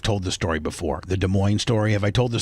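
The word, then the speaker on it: Des Moines: Uh, so you know, De Moine is is spelled De E S then it's Oh, while I was I was doing the driving.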